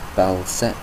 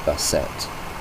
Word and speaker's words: Bastet: There's Neith, Freya, Loki, Balset.